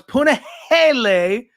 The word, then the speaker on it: Punahele: Every single Puna fight, and I always pronounce his name Punahele, because I'm, just that had a hard time with that one. So it's Punahele, and you're welcome.